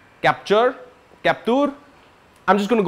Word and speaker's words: Captur: moving on we have the Renault captor capture captur I'm just going